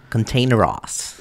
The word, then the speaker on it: Kontaineroz: is um but yeah it's containeros yeah so i said i'm gonna put you on blast on the podcast for saying it like that and that's not how you say it but yeah i